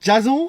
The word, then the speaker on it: Jason: Ouais, ça se prononce plutôt Jason comme à l'américaine. Jason?